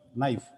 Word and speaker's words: knife: n i f e knife whereas where first letter K whereas we pronounce it as knife K is a silent sometime com c m